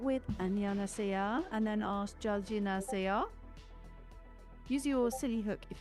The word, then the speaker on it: 잘 지내세요: Stretch the middle. Yeah. 잘 지내세요. Soft G. Jine.